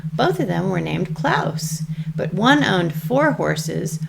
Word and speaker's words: Claus: klaus and big klaus i mean i guess you could say claws because it's spelled like claws but i think then you might think it's a christmas story and it's not a christmas story so we're going to go with klaus by hans christian anderson